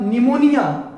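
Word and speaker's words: pneumonia: न्यू से न्यूल, आपका निमोनिया, चूंकि एन से लिटरेचर तो पी यानी उसका प्रोनाउंसिएशन आपका न्यू होता है, इसीलिए निमोनिया, लॉ से लेप्रोसी, और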